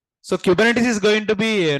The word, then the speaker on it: Kubernetes: commit guys listen here the pronunciation is exactly kubernetes what is the pronunciation but depends upon the accent sometime R should be